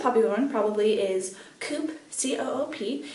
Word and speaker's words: Coop: So there's the most popular one probably is Coop, C-O-O-P. In Italy it's pronounced Coop.